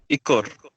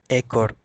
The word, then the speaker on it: ekor: Ekor. Ekor. Okay. Bebas. Bebas. Merah. Merah. So in formal Malay, the pronunciation is E. But in spoken Malay, we can use both. We can say ekor or ekor.